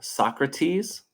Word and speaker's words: Socrates: Um, this is a Greek philosopher, Socrates, is how we pronounce his name in American English.